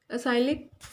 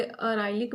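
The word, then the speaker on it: acrylic: Next है आपका असाइलिक। ठीक है, तो कई इसे अराइलिक भी प्रोनाउंसिएशन कर लेते हैं, कई असाइलिक भी।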